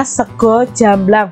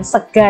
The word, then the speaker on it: sego jamblang: adalah sego jamblang ya Ini bacanya sego jamblang bukan Sega Ya sego itu bahasa Indonesianya